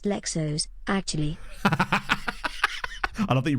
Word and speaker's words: Leixões: It's pronounced Lexos, actually.